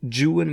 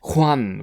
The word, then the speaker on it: Juan: the original English version, it is my impression that Byron pronounced the name of his hero Juan. So I shall pronounce it Juan whenever talking about Byron's character, and whenever talking about the hero of traditional legend, I shall say Juan, which I believe to be the correct Spanish pronunciation.